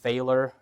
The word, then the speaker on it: Feiler: my name is pronounced Feiler Feiler rhymes with epic failure so don't feel bad